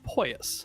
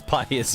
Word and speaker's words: pious: a child that's how pous I am that's not the right pronunciation it's Pious yeah that's how porous